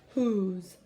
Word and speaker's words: whose: category this week and it's who's you can see as that silent e but it does not make the o say its own name so it's just whose um so as you're